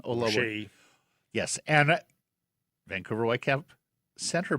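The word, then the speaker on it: Oluwaseyi: Olaweshi.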